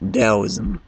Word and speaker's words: Taoism: The Tao is spelled T-A-O, but it's pronounced Taoism. But I say Taoism.